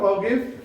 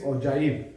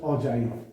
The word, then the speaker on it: ogive: Cumulative frequency polygon curve, this curve is short known as ओगिव but it is pronounced as ogive. It is not ogive, it is ogive. What is it? This is just ogive.